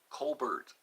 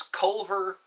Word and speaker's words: Culver: Colbert. No, it's Culver as in Culver City.